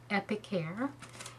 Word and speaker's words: Epicare: the Epic care now this is how you pronounce it epicare and in the the instructions it comes with